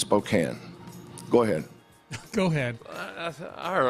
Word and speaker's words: Spokane: our neighbors it's and it's not Spokane and it's not Gonzaga it's Gonzaga and it's Spokane go ahead go ahead